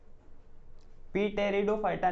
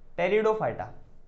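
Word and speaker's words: Pteridophyta: अब जो तीसरा वाला है उसको क्या बोलेंगे, कमेंट में बताओ, पी टेरिडो फाइटा, नहीं बेटा पी साइलेंट होता है यहाँ पे, हम लोग क्या बोलेंगे, टेरिडो फाइटा, मेरी नहीं तेरी दो फाइटा, तेरी दो फाइटा, राइट, जोकिंग, ओके।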